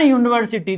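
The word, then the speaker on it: university: एन यूनिवर्सिटी। देखिए यूनिवर्सिटी का pronunciation करिएगा यूनिवर्सिटी, यूनिवर्सिटी। ठीक है। तो इसका जो य है व्यंजन है, तो व्यंजन के केस में क्या लगेगा?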